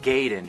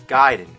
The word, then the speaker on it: Gaiden: here we're talking ninja giden everyone always said Ninja gayen but I know for a fact it's giden you know where I